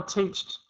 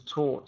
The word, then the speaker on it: taught: my mother teached teach what the past tense of teach is taught so my mother taught me I was taught how to make a moon C okay you don't really say uh teached is a yeah teached is not a word we say taught okay so you know